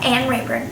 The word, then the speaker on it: Anne Reburn: americana pero en inglés en mi acento se lo pronuncia an rer Tengo 23 años y